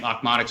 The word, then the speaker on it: Okmonik: cool looking name, but it's phonetically a pronunciation of the neighbors on the sitcom Alf. So That's awesome. Alf say his neighbor's name, OKMONIKS, over again. It's spelled very differently, and we just thought that was like a really funny sounding thing.